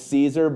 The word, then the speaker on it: Siser: to help everybody remember how to actually say it, that it's Siser, but drop down wrong